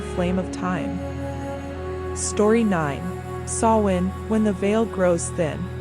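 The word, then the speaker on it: Samhain: This is sawin, pronounced sin, the Celtic new year.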